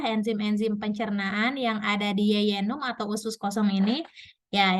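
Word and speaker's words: jejunum: ini ada usus kosong atau yeyenum dibacanya ditulisnya jynum Nah jadi di dalam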